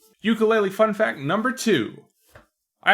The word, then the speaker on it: ukulele: fact number three if you call it a ukulele you're technically pronouncing it wrong ukulele is actually meant to be pronounced ukulele which is native hawaiian for jumping flea i